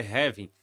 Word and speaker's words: halving: acabamos de passar pelo halving ou heaving né que a a pronúncia Correta que eu tenho aprendido é que agora é ravin então aparentemente eu vinha falando errado né mas essa valorização